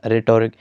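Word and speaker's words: rhetoric: ताने बाजी या बयानबाजी और इसकी एज साइलेंट होगी यह प्रोनाउंस ऐसे किया जाएगा रिटोरिक फैब्रिक का मतलब है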